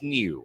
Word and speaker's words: Niu: for five got okay his last name is spelled NIU we're in Hawaii yeah I know but they say it's new well because that's the